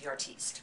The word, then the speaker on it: artiste: I've also been attracted to the artist type, the artiste.